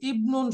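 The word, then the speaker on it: ابن: নাউনের মাঝখানে আসে তখন এই হামজাটা উচ্চারণে তো আসবেই না, এটা হামজাতুল ওয়াসলি, বাকি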